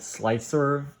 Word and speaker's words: Slic3r: So this is the back plate, and this was actually one CAD model that I put into a program called Slicer, SLIC3R, that's how it's spelled.